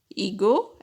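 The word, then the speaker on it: hijo: In the word son or daughter, H is also silent there. So, son is called as ego in Spanish and daughter is called as ega in Spanish.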